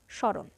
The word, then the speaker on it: স্মরণ: এর উচ্চারণ কেমন হবে স এর উচ্চারণ কিছুটা ঝোক দিয়ে বলতে হবে স এবং খানিকটা নাসিক্য হবে স্মরণ কখনো কখনো ম অনুচ্চারিত